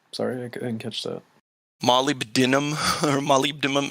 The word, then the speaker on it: molybdenum: molybdenum or molybdenum. How'd you say it, Josh? What is that? Molybdenum. Wow, that's the first time I've heard it properly.